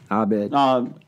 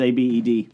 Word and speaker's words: Abed: Abed. It says A-B-E-D. Yeah, Abed.